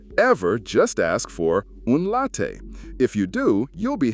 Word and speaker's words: latte: If you want a milky coffee that's not a cappuccino, you're looking for a caffè latte, pronounced caffè latte.